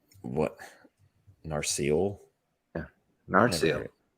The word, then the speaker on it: Narsil: This is one that I was curious about, this like Narsil. What? Narsil? Yeah. Narsil. I've never heard it pronounced that. It's pronounced that way in the movies.